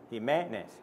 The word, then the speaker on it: Jimenez: I'm sure they can't pronounce Jimenez either. Accent on the first E, by the way. Jimenez.